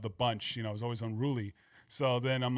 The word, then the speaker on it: Unrooolie: So I'm like, unruly, but I'm like, all right, but I'm gonna spell it cool for SOCOM so I can look, more urban or something like that. So that's how it came out. It's like, unruly.